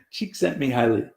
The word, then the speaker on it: Csikszentmihalyi: spell his name but on a good day I can speak it it's Mihaly Csikszentmihalyi she except me highly and he wrote a